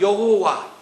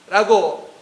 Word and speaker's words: 야훼: 그런데 이것을 히브리식으로 읽게 되면 여호와, 좀 더 가까운 발음으로는 야훼라고 부를 수 있어요.